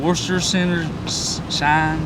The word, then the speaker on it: Worcestershire: We also set out to see if anyone actually knows how to pronounce this. Worcestershire. Worcestershire shine sauce.